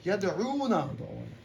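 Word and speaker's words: يدعون: Whether when we have wow with jazam, are we elongating it or Always elongated. We know that. Yad'una.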